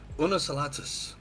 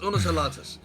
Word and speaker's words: Unus: M lady and been placed down as well unus oh so that's how you pronounce that cool uh it took me a while to figure that one out the mtin is carrying not asking but yes unus as well that join their channels uh anyway